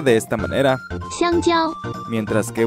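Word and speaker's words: 香蕉: ¡Xiangjiao! Mientras que una persona que hable cantonés la pronunciaría de esta otra manera. ¡Hanziu!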